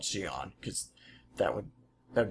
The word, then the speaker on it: Xi'an: doubt there'll be many people talking like Jian yeah or at least on I keep forgetting uh Xi'an I believe is the official pronunciation whatever carry on well